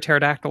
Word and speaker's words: pterodactyl: you ever hear a pterodactyl in the bathroom why not because the P is silent there you go see